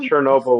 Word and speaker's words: Chernobyl: our lives no exactly um but Chernobyl um Chernobyl would be the way to properly pronounce it chobble chobble good good good chair Noble that's in my head now okay chair Noble